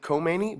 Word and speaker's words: Khomeini: Shah living in Paris it looks like Khomeini but that K is silent the Braves the most